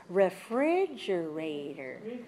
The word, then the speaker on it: refrigerator: And this word has 5 syllables. It's refrigerator. Refrigerator. Can you identify the stressed syllable? Refrigerator. 5 syllables, 2 is the same. So 5, 2, 5, 2. Has 5 syllables, stress the second.